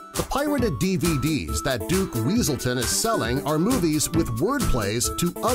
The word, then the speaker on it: Weaselton: you going to do with those night howlers Weselton it's weaselton a great crossover joke between the films for